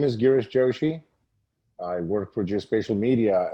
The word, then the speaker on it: Girish Joshi: you for having me here yes you did pronounce my name correctly my name is girish joshi i work for geospatial media as the regional